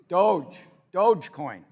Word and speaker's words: Dogecoin: which a year ago, is it Dogecoin or Dogecoin? Dogecoin. All right, I have 10 Dogecoins, all right? A year ago, 10 Dogecoins, for sake of argument, was worth $1,000, so $100 a coin.